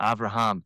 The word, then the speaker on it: Avraham: Oh, Avraham. Did I get it? You pronounced my name correctly, better than most people in the USA.